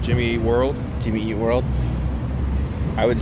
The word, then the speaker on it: Jimmy Eat World: Do you emphasize eat? I think I emphasize eat, Jimmy Eat World. Or is that world? I don't know. It's a light emphasis on eat, majority on world.